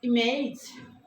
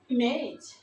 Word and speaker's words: image: এটা আমি ফনেটিক্সটা একটু লিখে দেই। এটা ই sound, consonant M, consonant M, তারপরে হচ্ছে এই সাউন্ড, তারপরে হচ্ছে এই জ সাউন্ড। অর্থাৎ উচ্চারণটা আসলে ইমেজ।